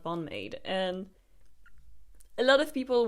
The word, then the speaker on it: BAND-MAID: I was like, Ben Maiden and not Bonade.